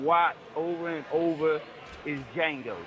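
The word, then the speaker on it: Django: But um I don't know if nobody said it was my movie that I could watch over and over is Jango. The D is silent.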